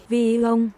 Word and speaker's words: VIFON: VIFON. Yes, that's how you pronounce it.